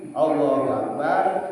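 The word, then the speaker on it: الله أكبر: Enggak boleh Allah berhenti dulu. Akbar. Harus mualah nyambung. Allahu Akbarnya nyambung. Kan ada dua kata. Allahu Akbar. Allahu Akbar. Enggak boleh dipisah bacanya. Allah Akbar. Harus nyambung. Allahu Akbar. Barnya jangan dipanjangin. Akbar.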